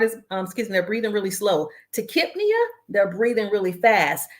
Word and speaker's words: tachypnea: So we know that the PNEA, the P is silent, the NEA refers to breathing. So Brady, Nipia, however you pronounce it, heart is, they're breathing really slow. Tachypnea, they're breathing really fast.